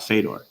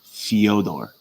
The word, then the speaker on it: Fyodor: So like Fyodor Emelianenko, I might have butchered the last name, but it's not Fedor. It's Fyodor. Fyodor.